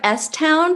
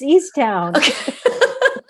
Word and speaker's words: Easttown: question sure is it is it mayor of s town have we all been saying it wrong no it's east town oh god okay herbie's